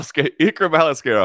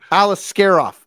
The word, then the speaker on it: Aliskerov: uh if uh alisar help me pronounce that name Al alisar off Alice scar off okay if Alis scof would have won that